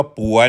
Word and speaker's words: ปัว: ปัว ออก เสียง ว่า ป่วย นะ ครับ ป ปลา ไม่ ให้ อากาศ ว แหวน คำ ว่า ปั่ว ครับ หัว นี้ ครับ มี